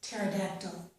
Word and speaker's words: pterodactyl: In these words, we do not pronounce the P, so we start this word as if it began with T sound, okay?